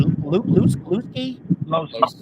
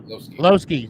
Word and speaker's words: Lowski: Is it Lewski? Lowski.